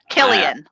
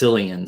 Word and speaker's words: Killian: Oh, Killian, like Killian. The beer. So Killian, like the beer. Irish, yeah. I would have guessed Cillian, so I think Killian's a good one.